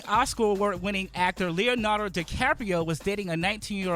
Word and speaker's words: DiCaprio: Leonardo DiCaprio saying that baby not Leonardo the Carpio man he was not worse than me follow